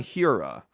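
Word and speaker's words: Hiura: Keston Hira. That's how you say it.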